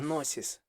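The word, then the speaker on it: γνῶσις: грецькою знання нолич є носіс так як у слові носіс які у слові нолич знання перша буква не читається Отже носіс - це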